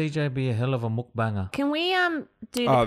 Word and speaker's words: mukbang: I reckon CJ would be a hell of a mukbanger. Can we do the pronunciation?